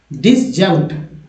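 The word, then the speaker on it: disjunct: डिसजंक्ट, डिसजंक्ट, डिसजंक्ट, जंग नहीं, जंक्ट, डिसजंक्ट।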